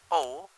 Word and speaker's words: rho: will know it right density symbol rho pronounced as rho rho grid work quick words